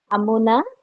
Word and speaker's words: अमुना: Amuna, Makara is Raswa, Nakara is Dirgha.